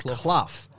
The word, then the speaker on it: Clough: say your name it's like cloth like cough i'm like no it's not it's cloud it's like brian clough it's the same brian